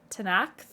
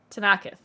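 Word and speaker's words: Tenakth: it's not there reflexively tanakh tanakh toes which they shouldn't tenacith tanaka three syllables uh tanaka to knock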